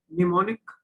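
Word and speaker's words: mnemonic: और कुछ किताबों में, जो थोड़ी पुरानी किताबें हैं, उसमें इसको सिंबल सिंबल और निमोनिक, इसमें M साइलेंट है।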